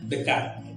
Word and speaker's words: Descartes: Tulisannya Descartes, tetapi itu bacanya Descartes, tidak jauh.